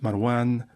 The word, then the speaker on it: Marwan: as Seljuk, pronounced Saljuk, Marwan, pronounced Marwan, etc.